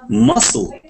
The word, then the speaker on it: muscle: C is not pronounced in ending... S-C-L-E, okay. Muscle. Yeah, did I say it right?